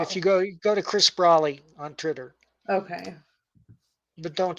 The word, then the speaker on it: Braly: BRALY, Brawley. That's how he pronounces it.